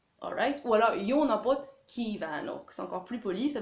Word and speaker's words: kívánok: Kívánok, là, j'exagère à peine, donc c'est vraiment un I long.